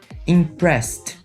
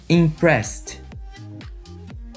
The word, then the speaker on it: impressed: Ed e no passado ele terá som de T repeat impressed impressed danc dance eu tenho